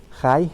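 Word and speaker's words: חי: Otra de las figuras es una palabra en hebreo que más o menos la pronunciación sería Jai, que sería el significado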